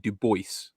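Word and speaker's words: Du Bois: And you had in the 30s um web Duboce which is the correct pronunciation of his name.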